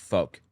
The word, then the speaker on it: Volk: I think it's pronounced folk.